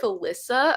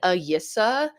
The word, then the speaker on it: Alyssa: My L's were Y's. So instead of Alyssa, I was saying Ayissa.